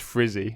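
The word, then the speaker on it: Frzy: Broken by a guy called Frisbee, spelt F-R-Z-Y, but it's pronounced Frizzy, apparently.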